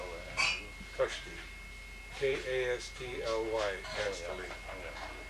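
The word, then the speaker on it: Kastly: K-A-S-T-L-Y, Castelli. And that's like a castle.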